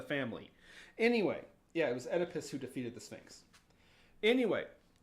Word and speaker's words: Oedipus: It's pronounced Oedipus.